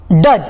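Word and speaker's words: does: where खत्म अगला डू डज देखिए फिर से देखिए इसको डज पढ़ना है इसको डोस नहीं पढ़ना है कि डी ओ ई एस डोस ऐसे ऐसे नहीं ठीक है तो इसको डज बोलिए डू डज डिड हैव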